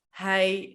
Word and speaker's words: hij: Yeah, so this is a sound that is really easy to make if you already know how to say I. You just make it a little bit shorter and in the mouth, I.